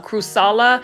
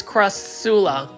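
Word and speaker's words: Crassula: I'm working on it I was calling it CR um kusala but it's Cula so yeah and that's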